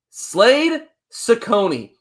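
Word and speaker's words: Slade Cecconi: But I also told you I was going to make sure I had the right pronunciation today. Kudos to Brenden for helping me out. Slade Ciccone.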